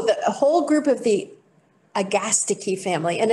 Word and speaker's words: Agastache: whole group of the agastiki family and it's a gastiki not agastache because as you all know perfectly well in greek the anti-penultimate syllable always takes the stress right i mean we